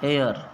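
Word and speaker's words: heir: मतलब होता है उत्तराधिकारी एयर एयर यानी उत्तराधिकारी तो ये दोनों शब्दों का आप ध्यान रखो एच इसमें साइलेंट है इसके अंदर य आंसर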